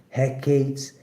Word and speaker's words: Hecate: Hecate's pronounced Hecate.